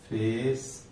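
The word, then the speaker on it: face: तो इसका क्या हो जाएगा, फेस मैंने 5 वर्ड बता दिए। इसमें आप देखेंगे ई साइलेंट मिलेगा और जो आगे का उच्चारण होगा, जो इसका उच्चारण होगा, इसको मिला के बोलेंगे।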